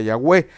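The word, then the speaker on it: Yahweh: a este a pronunciarlo se pronuncia con las vocales le estoy dando clase rapidísima con las vocales de la palabra adonay y por eso se le nombra el nombre correcto en el hebreo sería yahwe ni siquiera sería yah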